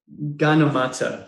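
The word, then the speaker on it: Gyanamata: So Sister Ganamata, that's how you pronounce it.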